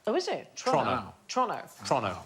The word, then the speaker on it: Toronto: should be so it's Toronto not Toronto OH is it Toronto Toronto Toronto like as quick as you possibly can like it's a crime to say it Toronto of Toronto there